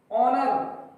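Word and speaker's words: honour: ऑनर, ऐसे silent है, ऑनर, ऑनर यानी सम्मान।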